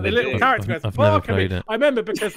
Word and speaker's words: Okami: Okami. Okay, the fact that Lyle's not reacting suggests I pronounced that wrong.